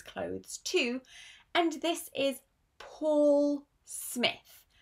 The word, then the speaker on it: Paul Smith: And this is Paul Smith. Not Paul, Paul. It's a long or sound.